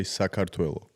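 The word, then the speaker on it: საქართველო: In Georgian, you say Sakartvelo because it's so different from pronunciation. They call it in English Georgia, in Russian Gruzia, but in reality, the country's name is Sakartvelo.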